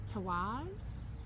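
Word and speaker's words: Tiwaz: This one is pronounced the Tawaz.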